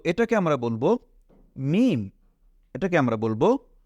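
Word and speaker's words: ميم: নুক্তা দেখতে পাচ্ছি না তো এটাকে আমরা বলব মিম এটাকে আমরা বলবো মিম এরপরে এইখানে আমরা যদি একটা নুক্তা দিয়ে দেই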